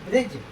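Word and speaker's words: bridge: अर्थात डी क्या रहता है? साइलेंट रहता है। डी को नहीं बोला जाता है। जैसे ब्रिज ब्रिज माने क्या होता है?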